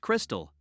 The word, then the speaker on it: Krxstxl: her daughter krxstxl confused the name is pronounced Crystal I already don't like